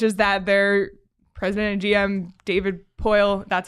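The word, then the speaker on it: David Poile: in Nashville which is that their president GM David poyle that's how you say his name right yeah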